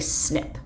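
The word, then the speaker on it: SNP: And so what we'll find is something called a single nucleotide polymorphism or a snip. And it's pronounced snip like you would snip something with scissors.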